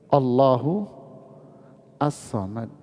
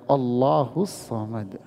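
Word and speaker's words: اللهُ الصَّمَدُ: Berarti ini dua nama, Allahu As-Samad. Tapi kalau bacanya nggak boleh begitu, bacanya Allahus Samad.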